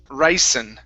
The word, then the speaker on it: ricin: chemical okay um it kills people it is ricin rice ricin very nice let's go to the